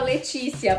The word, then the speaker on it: Laetitia: E gente, eu não sabia que o nome dela falava Letícia, porque se escreve Laetitia, né? Pois é, mas se fala Letícia.